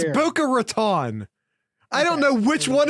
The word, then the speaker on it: Boca Raton: guest via your pronunciation it's Buca Raton I don't know which